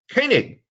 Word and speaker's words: Koenig: my list is koenig yes thank you and you pronounced it correctly too koenig is two for two yeah hey german this is german pronunciation but anyway uh thank